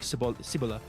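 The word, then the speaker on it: Cibola: Uh, Cibila burn is the name uh a pronunciation according to the the audio book sibila sibila burn and it is uh like they're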